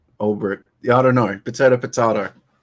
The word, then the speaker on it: Ulbricht: Yeah, I think it's Ulbricht.